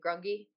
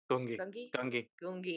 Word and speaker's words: Gungi: I'm really excited to see that, and you know, so how's our, what's our little boy, Grungy? Gungi. Well, I say Gungi. We always pronounce it right.